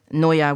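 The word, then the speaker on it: NIOA: Now I'm not sure how it's spelled N I O A. It's actually Noa which is um is the majority supplier of guns and bullets to Australian police.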